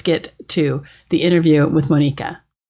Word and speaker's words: Monika: serve what's going on my name is actually pronounced monica in my mother country so sorry no worries